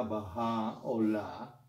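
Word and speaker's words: Bahá'u'lláh: Eh, aquí está escrito baja laá, como se deletrea en inglés, pero se pronuncia bajá o la.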